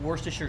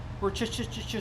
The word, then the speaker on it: Worcestershire: Worcestershire sauce. That's how you say it. Worcestershire sauce. Not Worcestershire. Worcestershire sauce.